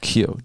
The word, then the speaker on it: Keogh: I thought there's a basketballer called Keogh.